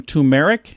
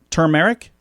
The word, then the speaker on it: turmeric: wrote on facebook she rubs some tumeric is that how you say it t-u-r turmeric turmeric turmeric it's t-u-r-m-e-r-i-c turmeric turmeric i've never pronounced the r well this turmeric is